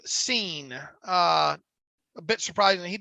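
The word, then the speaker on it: Cine: Is Lewis Seen, and it actually I researched this. It's Seen. Is it? Okay. Pronounced Seen.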